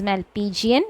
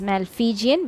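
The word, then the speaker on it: Malpighian: capsule okay and when you pronounce it please pronounce it as malpigian it is not some has a tendency of pronouncing it as malfigian which is wrong you will get the spelling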